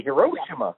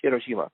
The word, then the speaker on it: Hiroshima: that for some reason English speakers always pronounce the middle syllable the most. So instead of saying karaoke, they say karaoke. Instead of saying Akira, they say Akira. Right, we do that. They say Hiroshima. It's Hiroshima.